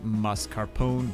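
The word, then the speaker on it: mascarpone: is going to be mus Carone which by the way is the correct way to say it since it's not an alien gangster like you guys love to pronounce it uh we're switching out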